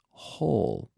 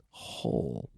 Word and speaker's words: whole: more air hole hole so the J is very soft but it sounds like hole as in I will hit o hole but there is a silent W so WH o L e hole hole hole yes I read the